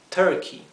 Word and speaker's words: turkey: pavo para tomar Turkey fíjense que lo he escrito turky pero la u inglesa se pronuncia a Turkey Fish es pescado Pero